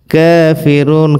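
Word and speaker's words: ٱلْكَافِرُونَ: কাফিরুন, কাফের উপর খাড়া জবর 1 আলিফ পরিমাণ টান হবে এবং রতে 3 আলিফ টান হবে ওয়াকফ হওয়ার কারণে।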